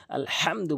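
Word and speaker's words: الحمد: আলহামদু বলতে হবে। হা টি হলকের মাঝখান থেকে এভাবে বলতে হবে। হা এভাবে বলবেন। তাহলে আপনার সঠিক উচ্চারণ হবে।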